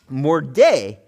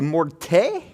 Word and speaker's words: morde: and then he was supposed to say, morde, which means, with a D, it means bite. Morde. So he kept doing that to them. But he would mispronounce the word and say morte, which means death.